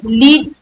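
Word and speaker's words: lead: है मेटल वाला ले लीड मेटल वाला को हम लेड बोलते हैं तो ये वाला गाइड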